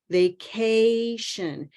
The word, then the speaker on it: vacation: vacation sounds similar but if you listen to a lot of speakers of English vacation this a is moving a all the way up to Green watch a e e notice that at the end e my voice and my smile my jaw are all in the green position so we start down